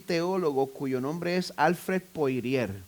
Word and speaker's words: Alfred Poirier: teólogo cuyo nombre es Alfred Poirier. Es un nombre francés que lo estoy pronunciando en español, Alfred Poirier.